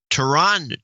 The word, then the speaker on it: Toronto: when they pronounced it natives always said ta'rhonda Toronto well visitors forced the second T as in Toronto's wrong yeah I would say